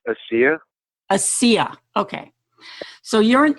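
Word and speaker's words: ASEA: mispronounce this is it as is it pronounced AI it's pronounced AIA AIA okay so you're an independent contractor right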